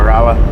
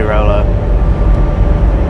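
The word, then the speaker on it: Rolla: Oh yeah, Raa. Yeah, I just I always say Rolo. I know it's not Rolo because it's R O L L A.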